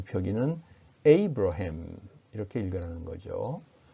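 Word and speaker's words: Abraham: 다든지 할 때는 어 미국 사람이라면 아브라함이 라고 발음하는 대신에 에이브러햄 이라고 발음 할 것이므로 알아 듣는 데에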